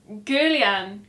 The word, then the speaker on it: Guerlain: We went to the, if you can pronounce this. Abigail sent me over a voice message going, it's Guerlain. Guerlain.